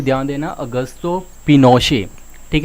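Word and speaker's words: Augusto Pinochet: सो यहाँ पे general ऑगस्टो पिनोशे, ठीक है, ठीक है, सो इनकी प्रोनाउंसिएशन के ऊपर यहाँ पे ध्यान देना, ऑगस्टो पिनोशे।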